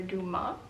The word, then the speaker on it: Dumas: The next book I bought is The Black Tulip by Alexander Duma. I just recently learned the S is silent, so hopefully that's right.